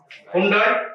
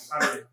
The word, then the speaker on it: Hyundai: So like that, this also, it is not to be pronounced as Hyundai. It is to be pronounced as Hyundai.